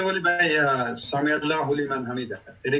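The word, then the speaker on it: سمع الله لمن حمده: সঠিক উচ্চারণ হচ্ছে সামি আল্লাহু লিমান হামিদা, এটি সঠিক উচ্চারণ।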